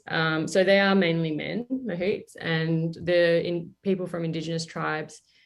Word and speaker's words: mahout: But what is a for like the listeners, what is forgive me for if I pronounce it wrong, but a mammut? Mahout.